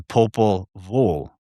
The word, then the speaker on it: Popol Vuh: text is called the Popol Vuh." It's spelled VUH, but when people pronounce it, they're always putting like an L sound in there, like vol.